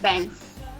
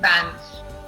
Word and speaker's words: bins: So it's overhead bins, Yes. not bands. How do you say it? Say it along with me. It's overhead bins. Okay. Say it. Overhead bins. Bins. Bins. B-I-N. It's bin. Bins.